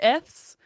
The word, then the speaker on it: Eths: I don't know if I'm saying it right, but Eths or Yeah, yes, ETHS.